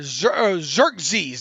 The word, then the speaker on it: Xerxes: Let's see, Exorus the Great, or Xerxes. That's how you pronounce it.